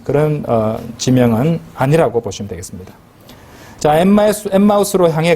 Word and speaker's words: 엠마우스: 지명은 아니라고 보시면 되겠습니다 엠마우스로 향해 가는 우리 보통 엠마오라고 많이 그랬잖아요 그죠 발음을 살렸습니다 엠마우스로 가는 이제 향해서